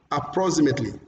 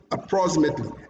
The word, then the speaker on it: approximately: It says approximately, approximately, approximately, approximately, meaning that the second syllable is also longer than others.